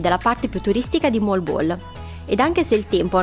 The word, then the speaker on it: Moalboal: Ci hanno detto di dire così, di pronunciare correttamente Mall Ball.